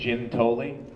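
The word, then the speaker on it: Giuntoli: be like fella uh I'm we don't pronounce our name the right way in my family we say it's Jim tolling Oh God so uh yeah this is a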